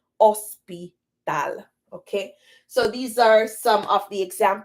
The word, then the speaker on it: hospital: emphasis on the H but the H in Spanish is silent so hospital in Spanish is ospital okay so these are